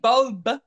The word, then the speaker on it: Bobe: Are we saying Bobe? Yes.